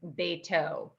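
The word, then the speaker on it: בֵּיתוֹ: So is it pronounced as a S or a T? You mean when you're saying his house, Yes. it's a T.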